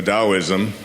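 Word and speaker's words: Taoism: as I've been researching a Daoism which is spelled t a o i s m t a o the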